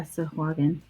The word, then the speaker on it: Sahuagin: So yeah, Sahuagin. So it's an extra syllable than you think.